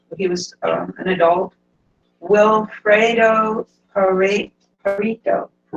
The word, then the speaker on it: Pareto: Wilfredo Pareto. The E is pronounced.